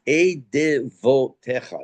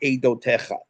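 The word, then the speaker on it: עדותיך: When you see it with the Vav, it is pronounced Eidevotecha. It's not pronounced Eidotecha. You'll notice under the Dalad, there's a Shva, there's 2 dots. It's Eidevotecha.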